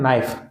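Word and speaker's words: knife: है ठीक नेक्स्ट है नाइफ तो नाइफ में के साइलेंट है के का उच्चारण हम नहीं कर रहे तो यहां आ जाएगा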